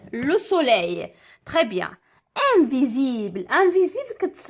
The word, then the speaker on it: invisible: سوليي تري بيان انفيزيبل انفيزيبل كتكتب اس وكتنطق زد انفيزيبل كما كتشوفوا اس